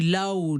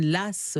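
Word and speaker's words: Law: Alors on dit Lao, John Lass, ça dépend, on peut le prononcer de différentes façons.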